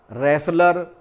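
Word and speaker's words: wrestler: शब्द हैं जिसमें रसाल रेसलर रेसलिंग यानी कुश्ती का अगर कोई गेम होता है मैच होता है तो उसको रेसलिंग कहा जाता है वहां पर भी ये वर्ड जो है टी साइलेंट होता है रेसलर यानी पहलवान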